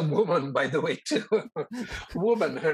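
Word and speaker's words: Wu Man: Woman. Her name is Woman. I don't know which woman you're talking about. I know. Okay, well, this woman is spelled differently, okay? Gotcha. Her name is W-U-M-A-N.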